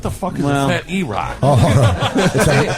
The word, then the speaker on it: E-Rock: What the fuck is a fat E-Rock? It rhymes with cock.